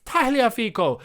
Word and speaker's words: Tagliafico: felt quite offended because he's italian he's it's taliafico it's like tagliatelli you don't say tagliatella you